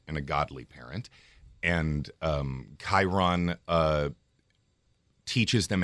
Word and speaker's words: Chiron: only read the book so how do you pronounce Chiron okay Chiron can you explain to us what Chiron is